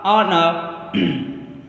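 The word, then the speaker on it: honour: अब देखिए एच, एच के लिए कभी भी प्रोनाउंसिएशन कभी आ आता है, जब आ आएगा तो एच साइलेंट होगा उसके लिए जैसे आर, ऑनर, ऑनेस्ट।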